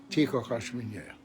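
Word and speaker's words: Ty kochasz mnie: You don't say that slowly. I'm saying it slowly so you'll hear it. Ti kochasz mnie.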